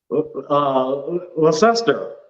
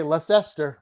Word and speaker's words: Leicester: That's how it's spelled. I still can't even pronounce it the right way. So how would you even say that? Leicester. Okay, Leicester. We get that a lot. We just call it Leicester. Leicester. It looks nothing like that word.